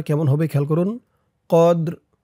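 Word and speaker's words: قدر: কদর অক করার কারণে র নিচে জেরটা সাকিন হয়ে যাবে উচ্চারণটা কেমন হবে খেয়াল করুন কদর কদর ই নাহুফি লাইলাতিল কদর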